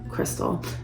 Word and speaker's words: Crystal: They're Bic Crystal, and it's spelled, sorry about that AC guys, it's spelled C-R-I-S-T-A-L, Crystal, and it's a 1.6 millimeter.